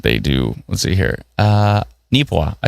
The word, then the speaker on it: Neepawa: Neepawa.